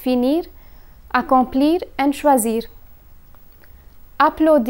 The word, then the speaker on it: choisir: in this category is choisir choisir means to choose when conjugating this verb one must pay attention to the letter S a single s is pronounced as Z while SS is pronounced as sir so here's the conjugation